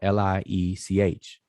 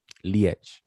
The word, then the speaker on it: liech: now the form changed so it's spelled l-i-e-c-h and it's pronounced liech lietch all right and last